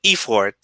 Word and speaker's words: effort: So effort, event. The stress is at the beginning, not at the end, and it's just the stress.